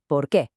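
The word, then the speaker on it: porque: But to answer with because, it all smushes together into one word, porqué.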